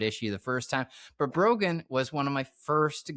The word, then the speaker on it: Broghanne: Uh, so yes, I am Broen. my name is pronounced like broken but with a G instead of a K.